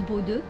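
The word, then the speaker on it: Bodø: Je pense que la prochaine grosse ville ce sera Bodo, qui se prononce Bodo.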